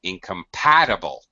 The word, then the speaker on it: incompatible: stress way off so here repeat after me incompatible there that was lovely incompatible the sylvester syllable is third third you are correct